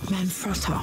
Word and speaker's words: Manfrotto: Manfrotto.